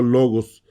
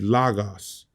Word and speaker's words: logos: ahora te digo esto yo estoy pronunciando logos como como la producción haremos en español por qué porque así me enseñó mi profesor muchos les enseñan a decir la gas a mí no me gusta eso no creo que esta producción correcta pero la realidad nadie